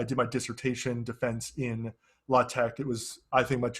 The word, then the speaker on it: LaTeX: what is uh well it's spelled latex uh the best pronunciation i've seen is la tec uh for what this